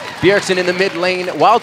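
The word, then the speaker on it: Bjergsen: one in the jungle the Jay is silent in this one yeah berixen in the mid lane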